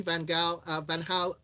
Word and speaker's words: Van Gaal: A lot of people just say Louis Van Gaal. They lean into the G. Listen, Nigerians, we like a hard G.